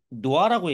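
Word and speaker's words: NOAA: 얘네가 이제 많이 하는데 미국에서는 보통 이거를 노아라고 얘기합니다. 노아. 물론 어, 스펠링은 다르지만 여러분들 노아의 홍수 아시죠?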